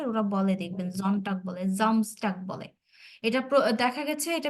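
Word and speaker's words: Samstag: vary করে আর কি তো যেহেতু আমরা ডেতে জামসটাক এটা যেহেতু ওরা এভাবে উচ্চারণ করে জামস্টাক এজন্য আমরা এটা এভাবেই শিখবো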